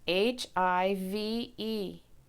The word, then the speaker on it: hive: to be magic E so if you're spelling hive H IV e hive and there's the I silent e pattern okay we're gonna do